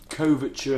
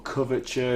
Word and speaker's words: couverture: Oh, couverture, I think you pronounced Couverture, it, yeah. or coverture. It's Couverture. basically it's chocolate, but it's quality chocolate.